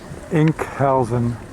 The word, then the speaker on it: Enkhuizen: it was longest trip of our vacation here inc housing that's how it's pronounced beautiful nice town they have a trunk